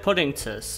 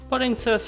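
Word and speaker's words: Puddingcess: Their last main deck monster is Madolche Puddingces, and I'm gonna give them credit here. This is a pun that transcends dialect and language, given that it's essentially just the Japanese pronunciation of princess.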